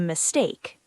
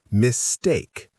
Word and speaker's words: mistake: Sorry, I think there might be a mistake. Perfect. Now, pronunciation tip. Remember where the stress goes? On problem. There's a problem with Exactly. And mistake has stress on the second syllable. Mistake, not mistake.